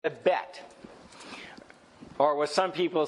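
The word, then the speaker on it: בית: bet. Or what some people say Beth. Here, this one says bait. But how you pronounce it, bet is usually what I've heard.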